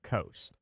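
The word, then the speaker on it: Coste: So it's spelled C O S T E, but it is pronounced coast.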